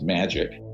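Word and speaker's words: MAJIC: the majority Intelligence Committee Maj I see is pronounced magic ironically are not ironically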